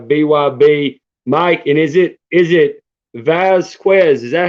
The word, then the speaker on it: Vazquez: And is it Vazquez? Is that how you say it? I don't want to butcher it. That's right. Yeah, Mike Vazquez.